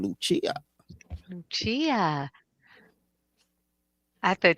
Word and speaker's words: Lucia: But first, before we let our guests come in, what did you think about Lucia? That's how you say her name, Lucia.